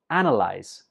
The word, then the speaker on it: analyze: Analyze. Some students pronounce this as analyze because in the spelling it has an A, but when we're speaking, we just pronounce it analyze.